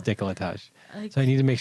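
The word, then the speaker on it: décolletage: you pronounce it decolletage i thought it was decolletage or something i don't know it is decolletage so i need to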